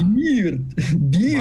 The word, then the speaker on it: beard: Beard. Молодец. Да, beard — это борода. Да. То есть тут как пиво произносится, да, в какой-то степени типа beer, но только мы добавляем наконец букву D. Beard получается.